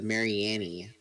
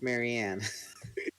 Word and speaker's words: Marianne: crotcheting Mary Annie yeah I was like no it's Marianne I think I at one point thought you pronounced and Annie because the E is silent and that's hard to